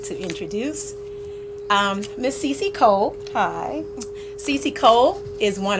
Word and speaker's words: Cece Cole: I would like to introduce Miss Cece Cole. Hi. Cece Cole is one of our two guests. And Miss Cece Cole, she is the founder and CEO of Silk and Dress, Lifestyle of the Lady CEO.